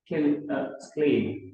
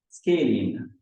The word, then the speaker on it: scalene: A triangle with all sides of different length is called, how do they pronounce that? Scalene. Oh yeah, privilege. Sorry, that scalene.